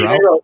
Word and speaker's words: Drouth: Is it Drouth? Is that how you say it? Drouth? You nailed it.